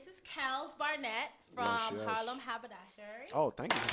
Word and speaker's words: Harlem Haberdashery: Harlem Haberdashery.